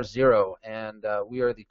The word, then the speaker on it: Xero: z00 Z note that we spell that with an X not with a z uh we are not Xerox misspelled we are zero and uh we are